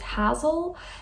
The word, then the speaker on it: Hazel: for age i got hazel i think hazel is a really cute name um in english i don't think in dutch we pronounce it hassel i don't think that's